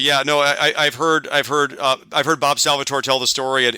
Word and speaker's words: Salvatore: Is it Salvatore or Salvatore? Salvatore. Is how I've always heard it pronounced, and I believe how he says it.